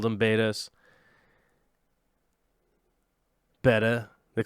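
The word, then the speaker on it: betta: bred a ton of betas in my day. I love beta fish. I love saying it wrong, and then the internet getting super mad and going, it's not beta, it's beta.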